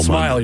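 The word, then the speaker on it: Smael: I think I think his name is pronounced Smile. Smile.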